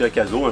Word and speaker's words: Akaso: Donc Akaso, c'est une marque Akaso, je pense que ça se prononce, c'est une marque chinoise qui fait une caméra embarquée type GoPro 4K.